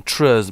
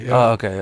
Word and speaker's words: TRIZ: true or some unpronounceable as you're saying trees but I think it when you read it there's a TR IC o---- triz okay and and but